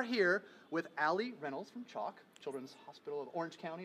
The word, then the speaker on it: CHOC: so we are here with Allie Reynolds from choc Children's Hospital of Orange County is that correct correct pronunciation of the acronym and then Sarah Hackett